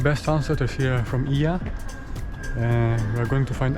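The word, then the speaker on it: Oia: And here I am. I just made it to Ia. They told me that O and E in Greek, you pronounce it E, so it's not Oya but Ia.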